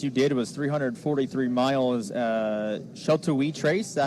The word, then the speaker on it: Sheltowee: Sheltowee Trace, is that how you say it? Yeah, pretty close. Sheltowee. I think there's a couple different pronunciations, but okay.